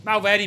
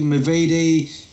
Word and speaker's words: Movahedi: Not many people get my surname right. I've had Movahedi, Mavidi.